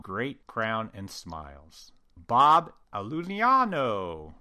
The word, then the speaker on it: Iulino: Bob Iulino, which I have to say it like that because that's how he says it, runs a 3-person digital lab in upstate New York called Adirondack Dental Ceramics.